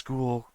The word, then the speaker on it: Guel: So, I can only pronounce it as Ghoul based on how I pronounce my own name.